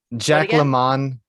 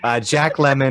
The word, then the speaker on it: Jack Lemmon: Anyways, back to your number 6, which was Jack LaMont, Grumpy Old Men. Lemon. Okay, sorry, I try to get fancy. I won't let you mispronounce that. Jacques LaMont. Jacques LaMont. Jack Lemmon.